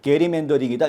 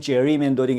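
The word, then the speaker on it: gerrymandering: 왜냐하면 흑인 다수, 지역구를 하나 더 만들었던 것이 원인이 됐는데 인종적으로 편향된 게리 멘더링이다 이렇게 판단한 거죠. 영어로 발음할 땐 제리 멘더링 이렇게 발음을 합니다만은 어쨌든이 게리 멘더링이라는 것은 아주 귀괴한 그 지도를 그리는 거 아닙니까?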